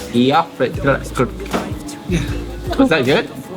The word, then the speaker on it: Eyjafjallajökull: Okay, now how do you say the mountain that's easy for to pronounce? Eyjafjallajökull. Eyjafjallajökull.